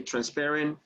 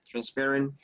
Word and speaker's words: transparent: Remember that when you say this word, the stress goes on the second syllable. You say transparent, transparent, or transparency.